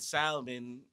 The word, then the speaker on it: salmon: when they saw that L and they said salmon, and they're like, okay, there's an L there. Why are we not pronouncing the L?